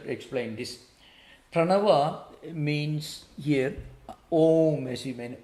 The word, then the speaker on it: Om: even a long bubble it should be a longer vowel it's called pluta you know it means